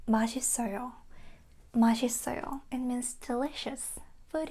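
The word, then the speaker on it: 맛있어요: So, this one kind of combines with the next one in because it doesn't have the pronunciation. It's a vowel, right? Put it in. And also this one connects to the next one. Put it in. So, it's like it's it sounds like pudding. Put it in. Put it in. Put it in, right? So, it's like that. Instead of saying mashisoyo, we say mashisoyo.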